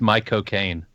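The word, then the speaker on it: Michael Caine: Michael Kaine. Um, to say his name in his accent. Yeah. The the trick is you just say the words my cocaine.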